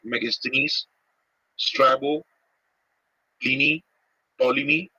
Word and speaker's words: Ptolemy: Now the Greek authors like Megasthenes, Strabo, Pliny, Ptolemy, isme this P is silent.